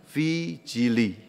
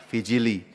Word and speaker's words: vigili: Yang benar, yang persis benar adalah namanya vijili. Tulisannya vigili ya. V I G I L I. Dibacanya vijili.